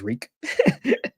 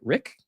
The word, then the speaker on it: Riq: It just says Reek. Can't mess that up. Well, I guess how else could you pronounce Reek? Rick? Like if you saw RIQ, like I would just yeah. You say Rick, man.